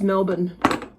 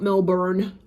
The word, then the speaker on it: Melbourne: Brisbane not Brisbane and it's Melbourne not Melbourne okay I'm sorry to